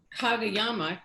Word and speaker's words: Kageyama: look forward to reading many others from peter kagayama now i'm going to say it wrong you